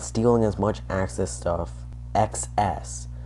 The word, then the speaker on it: XS: as much access stuff, XS. That's actually how they say it in the game. Capital X, capital S stuff. Excess stuff.